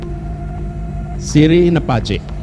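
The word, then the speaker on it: Siri na pacce: Siri Nepace. Betul pengucapannya.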